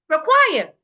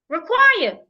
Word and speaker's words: require: Require has 2 syllables and it's a preposition. So I must stress the second syllable. Require. Require, not require.